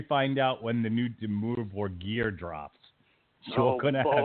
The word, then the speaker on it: Dimmu Borgir: Demure gear. Spell it with it's just like it sounds. It's DIMMU BORGIR. Dimmu Borgir.